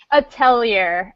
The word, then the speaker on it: Atelier: Erika, give me the pronunciation one more time. Atelier, as in the Atelier series.